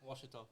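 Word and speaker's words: Ouachita: A Wichita Christian, or a Wachita, or however they say it up north. How you say it? Washita.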